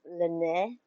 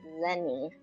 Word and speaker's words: Lyney: different ways and I think the French way is Lenae I don't know Google okay and we need lunch money in there Lenny Lenny so it's different okay Lenny so the English is pronounced as Lenny French is pronounced that's